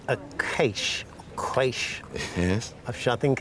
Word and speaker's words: quaich: Various pronunciations, but the usual one is quaich, which is actually a Scottish word, and it means a two-handled drinking bowl.